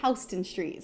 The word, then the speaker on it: Houston Street: the Americas Houston Street I know it spelled like Houston and technically that's how it should be pronounced but that's not how we say it I don't know why